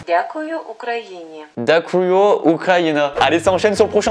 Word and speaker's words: Дякую: Alors attendez, comment ça se prononce? Дякую Україні. Dakuyo Ukraina.